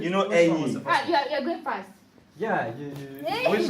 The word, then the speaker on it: ẹyin: Can you can you pronounce it? Eyin. Ẹyin. You. And this you can Or ẹyin. ẹyin. Ẹyin is like ẹyin. No, this one. Wait. Ẹyin. ẹyin. You can say bag. You can say ẹyin.